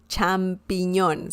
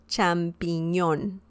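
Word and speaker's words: champiñón: attention to the pronunciation champignon it sounds quite french as well it sounds like french but it's not it's spanish both mean the same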